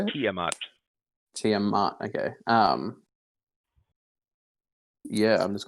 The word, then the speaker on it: Tiamat: Tiamat.